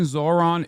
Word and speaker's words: Zohran: The H in Zohran isn't silent.